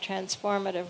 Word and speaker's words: transformative: not just some and to help you remember that it's transformative and not transformational I always like to think of transformative rhyming with live because it really is a way of life as much as it